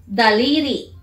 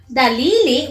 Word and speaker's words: daliri: Daliri. Daliri. I can't remember! Dalili? What's dalili? You have five dalili? Daliri. Ri, say ri. Ri. No, ri. You have to pronounce the r. It's an r.